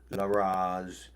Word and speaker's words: Laraz: Laraz. This mantra is pronounced prolonging the sound of each symbol, like La So you gotta say it like the like rolling the tongue when you say the R part.